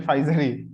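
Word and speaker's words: Pfizer: হ্যাঁ পি ফাইজার না, এটা ফাইজারই। হ্যাঁ হ্যাঁ ভাই, ফাইজারই, কিন্তু ভাই আমার স্ট্যাম্পে লেখা পি ফাইজার। হ্যাঁ হ্যাঁ, মানে ওই যে প্রোনাউন্সিয়েশন মানে ফাইজারই হবে।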